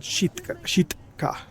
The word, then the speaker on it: Sitka: and then it's been renamed back to Sitka, or as I guess the natives would pronounce it, Shitka.